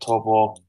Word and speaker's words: Taupo: Nah, it was a great opening round at Taupo, which is how you pronounce it, by the way.